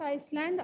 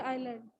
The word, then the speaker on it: island: So Island, not Iceland, island. S is silent, everyone.